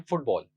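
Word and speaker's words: football: तो इस वर्ड को अगर हम प्रोनाउंस करें तो हम ऐसे प्रोनाउंस करते हैं फुटबॉल, आई am playing फुटबॉल। तो इसकी दो सिलेबल्स हैं। तो जो पहला सिलेबल है फुट, उस पर ज्यादा स्ट्रेस है क्योंकि उस पर हम ज्यादा फोर्स और प्रोमिनेंस लगा रहे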